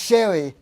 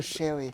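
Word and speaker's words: Sheary: No, it's pronounced Sherry. It's Connor Sherry.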